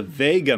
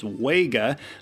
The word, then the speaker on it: Wega: Sony trinitrons and especially the Vega models often mispronounced as Wega are generally well regarded